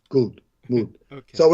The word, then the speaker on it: goud: Many Creole speakers call gordes good, rhyming with the English word mood, good, mood.